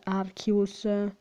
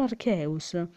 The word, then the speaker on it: Arceus: Se Redipixel avesse visto Arceus e gioiello della vita, il film, capirebbe come si pronuncia il nome Arceus, non Arceus, Arcius, Archias, Arci, si dice solo Arceus.